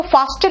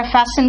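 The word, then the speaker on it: fasten: आता है है ना इसको फास्टिन नहीं कहते बेटा फैसन कहते हैं टी साइलेंट है इसका मतलब हुआ बांधना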